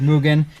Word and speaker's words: Mugen: Apparently it's pronounced Mugen.